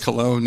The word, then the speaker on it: Colon: Well, Colon, for those of you who may be a little confused how to pronounce my last name, and I understand that completely. But Colon, and I am a Brielle Councilman, also co-founder of I.F.C.